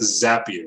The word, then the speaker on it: Zapier: called zapier it's pronounced zapier because i'm a certified consultant with zapier people say zapier sometimes it's not zapier zapier because the actual tools are called zaps that's that's how come